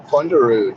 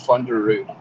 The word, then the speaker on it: Funderud: to root so um it's usually pronounced with a little bit of uh norwegian twang to it but just for the sake of you know all everybody here being able to actually pronounce it you can just pronounce it thunder root under it awesome so